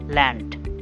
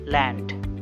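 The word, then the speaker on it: Land: এগুলো যেরকম আমরা উচ্চারণ করি সেরকম উচ্চারণই দেয়, কিন্তু ডেতে হচ্ছে কখনো কখনো ডে উচ্চারণ দেয়, কখনো হচ্ছে ট এর উচ্চারণ দেয়। যেমন ডাঙ্কেন, ডাঙ্কেন, ল্যান্ড, ল্যান্ড।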